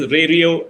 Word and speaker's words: Rario: So the question is, I hear different versions of Rario, the pronunciation, and they want to know if it is Rario or Rario. So it is Rario, Danny.